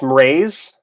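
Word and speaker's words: Mraize: How do I produce mraze? Or pronounce mraze, like mraze. Mr. Rise is fun. Mraze. It's like raise, the word raise, as in to lift or to completely level, which is ironic.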